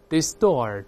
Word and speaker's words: distort: 轻轻的还是能听出来区别，在里面 Scratch， Scratch， Contrivance， Contrivance， Distort。